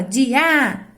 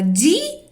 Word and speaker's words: dia: Por acaso você fala dia? Não, você fala dia. Então, a sílaba tônica é a última ou a penúltima? É a penúltima, que é o di.